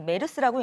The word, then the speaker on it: MERS: 각각의 첫 글자를 따서 MERS, 이 메르스라고 읽는데요.